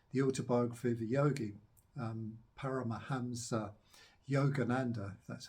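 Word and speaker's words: Paramahansa Yogananda: who wrote um the autobiographer the yogi um para mahamsa Yogananda that's how you pronounce it a bit of a tongue twister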